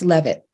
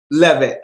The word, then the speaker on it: Leavitt: It's Leavitt. Leavitt.